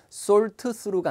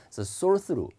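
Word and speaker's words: thought through: 라는 전체는 쓸수 있거든요 근데 발음이 어려워요 쏠트 스루가 아니라요 티 사운드 가 안 들려요 왜냐면 치우 내고 쓰 도 내고 그 지역이 발음이 th 가 할 때는 이제 이 뻔데기 발음 인데 이빨과 이빨 사이에 혀를 끼고 여러분 해봐요 생큐 이렇게 되거든요 근데 쏠트 또 이렇게 힘들잖아요 항상 발음은 편하게 해야 되니까 쏠수 루 쏠수 로 이렇게 많네요 거기에 또 ing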